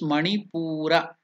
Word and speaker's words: manipura: to pronounce this chakra it is manipura chakra manipura chakra is the third chakra on the backbone exactly behind the navl so Nai so it is called can you pronounce it man chakra manur chakra the color is yellow and